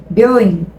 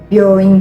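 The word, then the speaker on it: びょういん: Reparem que eu não vou falar byoin. Byoin. Não, a gente não fala, a gente não vai pronunciar esse U. A gente vai falar byoin. É como se o O tivesse um somzinho um pouquinho mais contínuo, tá? Então, byoin. Esse O fica um pouquinho mais longo o som, ok?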